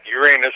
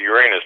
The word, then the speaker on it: Uranus: But he don't call it Uranus, does he? No, he Uranus. says Uranus. Yeah, he says that's the way it's supposed to be pronounced. But my inner 12-year-old calls it the other one.